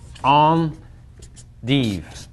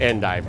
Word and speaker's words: endive: And the correct pronunciation is this on de obviously uh real vista where Rich works is about as far away from France as you can get.